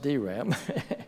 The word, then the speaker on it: DRAM: transistor dynamic memory cell the acronym dram pronounced dram came to be used